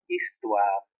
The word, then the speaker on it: histoire: La même chose pour histoire, son histoire. Histoire est un nom féminin, parce qu'on dit une histoire qui commence par un H muet, un H non aspiré.